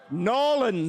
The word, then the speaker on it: New Orleans: New Norans. Like it goes from three syllables to one, doesn't it?